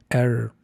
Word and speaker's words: error: Eh, aquí las dos vocales están asociadas a sonidos con r estadounidense. No se pronuncia con vocales españolas puras, o sea, es sonido de shua. Al principio si es R, perdón, e R. Y luego sh con r.